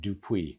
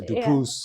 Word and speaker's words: Dupuis: I must say I've um I've had MC's introduce me at events here in India even just yesterday there's always the s at the end dup or dupus or so on but